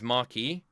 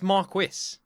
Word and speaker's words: Marquis: Um, is is Marky? That's Marquis. That's Marquis. Marquis. That's how it's pronounced in England.